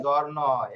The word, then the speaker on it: giorno: জি ই জি, পরে জি ই অ জ, এটা জ্বর উচ্চারণ হবে।